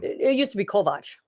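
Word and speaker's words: Kovács: It used to be Kovac. Right? Kovac. But they used to be Kovacs because CS in Hungarian is a ch sound, right?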